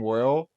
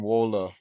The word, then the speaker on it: Waale: yeah so like I a lot of people think my name is pronounced well but it's actually pronounced Waller so a lot of